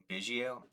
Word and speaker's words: Biggio: How did you pronounce his last name? Is it Biggio? Like I know. Biggio, Craig Biggio.